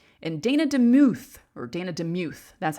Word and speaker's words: DeMuth: reed at second and dana demuth or dana demuth that's how you say it at third base